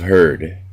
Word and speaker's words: heard: of less familiar traps beware of heard a dreadful word that looks like beard but sounds like bird and dead it said